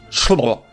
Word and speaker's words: Cholmondeley: Cholmondeley is apparently just pronounced Chlo.